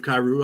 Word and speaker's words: Kyrou: Louis top line with when they move Kyrou up there. Is that how you pronounce his name?